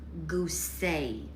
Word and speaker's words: Goose: Look, it's pronounced gooseay, Lucy said.